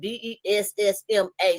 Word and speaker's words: Bessemer: I said it Bessma. So I said, take me back to Bessemer, like mom at the end.